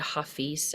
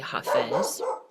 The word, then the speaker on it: Hafez: Also, like Hafez, I actually learned that we've been pronouncing Hafez's name wrong. So I've always said Hafiz as well, but I just learned recently that it's actually Hafez.